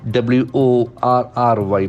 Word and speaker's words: worry: Worry is a very interesting word. WORRY. Probably we use that word in our normal daily sentences. Worry. So it has got a very beautiful pronunciation. Worry. Can see that. That R sound is very prominent. Okay, the first R sound.